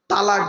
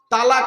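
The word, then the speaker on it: طلاق: বলতে বলতে ঝগড়া করতে হোক বা বিভিন্ন কারণে তালাক দেয় তাই না বাবা বলুন না একটু বউ যাবে না ভয় নেই আমি আছি এখানে তো শব্দটা কিন্তু তালাক নয় শুনে নিন শব্দটা তালাক নয় শব্দটা হল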